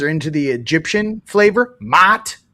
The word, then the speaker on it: Ma'at: I can't go Ma'at because when you say it, it's like It's almost like when you're yelling mom. Do you guys know what the proper way to say Ma'at? It's like yelling mom.